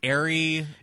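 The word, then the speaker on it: Eyre: directed by Richard Ary I'm never quite sure if it's a Airy I mean it's spelled like iy like get iy right I always said air just because of Jane but I suppose they're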